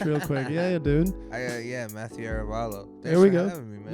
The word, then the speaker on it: Arevalo: Matthew Arevalo.